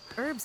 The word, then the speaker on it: herbs: Herbs can enhance any potion. Why do I'm not being? It's just weird that in America they never pronounce the H.